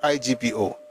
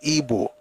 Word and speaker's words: Igbo: the pronunciation the way they pronounce it traditionally in their own language is ebo and the best way